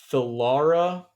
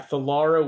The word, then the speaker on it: Thalara: me I'm thinking I'm thinking her name is theara and her surname is salonus how do I spell that yeah theara would be t h a l a r